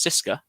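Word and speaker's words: CSKA: there was locomotive spartak csk which is actually pronounced cisca i've also found out um but there was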